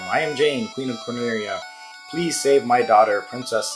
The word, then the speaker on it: Corneria: Japanese does not have L's, and so whenever they're pronouncing words that have L's in them, they will replace them with R's. And if you read the literal translation, the literal Japanese, it says Corneria.